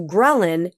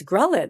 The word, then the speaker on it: ghrelin: So ghrelin signals hunger.